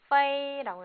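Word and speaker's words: 飞: 이거는 페이라고 읽어요.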